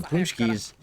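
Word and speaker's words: pączki: And they're spelled like that, Paxi, but they're pronounced Punchki in Polish.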